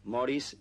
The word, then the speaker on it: Maurice: Barry Morris Robin normally more is given his name is spelled Maurice I was named after